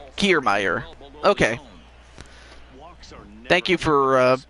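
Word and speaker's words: Kiermaier: throwing the ball across the plate nobody on care meyer kiermeier okay thank you for uh helping uh with the pronunciations but kiermeier with a huge home run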